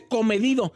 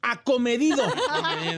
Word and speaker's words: acomedido: pochill como la Ferrari no se dice comedido es acomedido déjalo come das lata